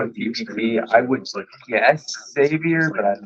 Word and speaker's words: Xavier: It's Xavier. It's like you pronounce the X.